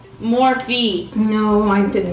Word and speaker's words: Morphe: I think it's Morphe, yeah.